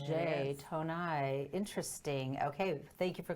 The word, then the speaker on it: Tonaj: to pronounce this properly tone ash tone I tone I see we didn't have a conversation before so the J is silent day tone I interesting okay thank you